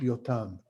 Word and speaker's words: Yotam: But it used to be that every Israeli would know the following section known as Mashal Yotam, Jotham's or Yotam, I'm just going to pronounce it in Hebrew, Yotam's parable.